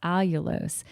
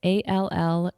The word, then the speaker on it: allulose: It's one called allulose, and I'll spell it. It's ALLULOSE, so that y'all don't hear us talking about it the whole time, and you're like, what are they saying?